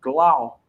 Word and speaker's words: Gloucester: It's pronounced Gloucester, VA.